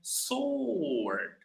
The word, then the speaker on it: sword: Because in the word word, the W is we pronounce W. We say word, right? But in sword, we don't pronounce. You can see here. So it's well it's written as sword but it's pronounced as sword. All right sword. That's how we pronounce it.